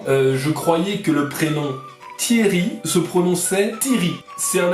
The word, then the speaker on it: Thierry: Et il me dit mais tu dis Thierry? Et j'ai dit oui. Alors il s'avère que ça se prononce Thierry. Là, j'aimerais qu'on en parle. On ne dit pas Thierry.